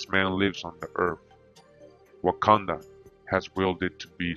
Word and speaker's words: Wakanda: lives on the earth wakanda has willed it to be so again native american legends wakanda wakanda tribal affiliation the omaha and pronunciation wakanda just like in the movie all right it says